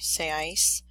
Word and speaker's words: seáis: Oop, the accent is on the A, sorry, seáis.